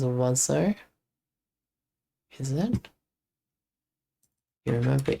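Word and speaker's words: oiseau: It's like Oiso is pronounced as Wazo.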